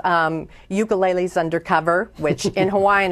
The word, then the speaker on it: ukulele: got coming the third book is called um ukulele undercover which in Hawaiian it's pronounced ukulele so but I always because we say it